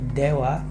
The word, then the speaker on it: では: bahwa disini di haeduck hadi dewa itu diucapkan dua bukan dh ya kita mengucapkannya dewa dewa arimasen bukan dh ariemasen itu perlu diingat jadi